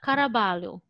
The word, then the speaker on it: Caraballo: lo or caraballo because it sounds spanish it's actually spanish i found one how actually i have yeah kara balu it says there i